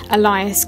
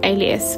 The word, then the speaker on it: Alias: novel but i did think that it was pronounced elias grace while i was reading it and for about two years that's how i pronounced it but it is alias which makes way more sense the weaker vessel